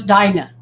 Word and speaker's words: Dinah: i'm pronouncing it right it is dina correct no it's dinah dinah it is dinos